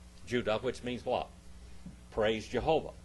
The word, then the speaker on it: Judah: What's the proper pronunciation of Judas's name? Judah. Judah, which means what?